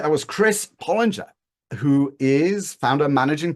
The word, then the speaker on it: Pollinger: Your last name is pronounced Pollinger or Pollinger? It is Pollinger.